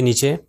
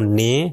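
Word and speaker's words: نِ: ہے وہ نون ہے۔ نون کے نیچے کسرہ آ جائے تو یہ ہو جائے گا نی، نی۔ اگر میں کہوں نے تو یہ غلط ہے، نی صحیح تلفظ ہے۔ پھر آخری تین حروف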